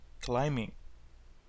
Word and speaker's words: climbing: hiking cycling rock climbing the b of course is silent the bee is silent rock climbing scuba diving scuba diving